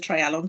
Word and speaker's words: Treialon: quite like it but here is a simple approach to trying to remember how to pronounce it it is not hard it is essentially a try if we're Welsh we know what tries are um maybe the pub landlord